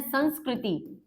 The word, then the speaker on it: संस्कृति: जिसे आप कहते हैं संस्कृति है ना इसका एक्चुअल प्रोनाउंसिएशन इज संस्कृति क्योंकि सम उपसर्ग होता है।